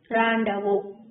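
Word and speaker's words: rendezvous: How to pronounce this word? Randavo.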